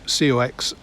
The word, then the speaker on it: coxswain: COX, cox is short for a word that is spelt COXSWAIN but pronounced coxswain.